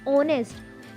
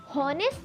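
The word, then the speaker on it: honest: एन ऑनेस्ट ऑनेस्ट में हमारा H silent होता है। ऑनेस्ट इसको हम होनेस्ट नहीं बोलते। ऑनेस्ट बोलते हैं।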